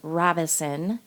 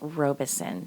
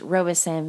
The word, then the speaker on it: Robison: So, the pronunciation for part 1, I was saying Robison for the family, and it's not Robison, it's Robison. So, my apologies on that, everyone. The name is pronounced Robison.